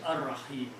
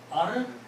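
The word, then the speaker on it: الرحيم: What happens when ra and lam come together? You don't pronounce lam. So you pronounce Ar-Rahimu.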